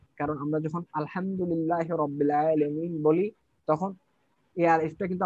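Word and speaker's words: رب العالمين: আমরা একটা আলিফ আছে আলিফ আছে কিন্তু সেই আলিফটা কিন্তু এখানে উচ্চারিত হচ্ছে না মানে এই জিনিসটা কি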